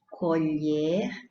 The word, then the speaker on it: colher: tem a mesma grafia mas a primeira tem o timbre aberto no e e a segunda tem o timbre fechado no e Então não é a